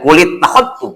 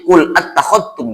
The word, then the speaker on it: qul attakhadtum: Nggak dibaca kulit takhadtum, enggak, tapi qul attakhadtum dibacanya.